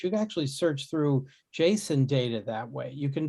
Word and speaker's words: JSON: of funny pronunciation i i call it jason not json because i like i